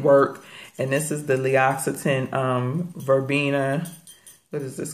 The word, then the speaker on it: L'Occitane: And it's L'Occitane. It's pronounced like it has two X's in it, but it's two C's, L'Occitane.